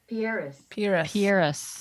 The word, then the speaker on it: Pieris: go hear us Pieris Pierce there we go Pierce it's a weird word that Pierce is looking miserable the soil is all wrong